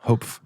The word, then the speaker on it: Hope: We always say like hopeful, but drop the UL. Hope, right? That's how you say it.